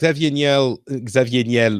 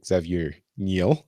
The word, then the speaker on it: Xavier Niel: Xavier Niel, or Xavier Niel, if you want to pronounce it the American way.